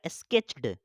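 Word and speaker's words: sketched: क्या हो जाएगा स्केच्ड ईडी ड का उच्चारण होता है ईडी जब लग जाता है ना कोई भी वर्ड मीनिंग में ईडी लग जाता है तो क्या हो जाता है उसमें ड का उच्चारण होता है जैसे यह लिखा हुआ है स्केच यहां पे ईडी लग गया तो स्केच ड हो जाएगा स्केच्ड ए एस टी ओ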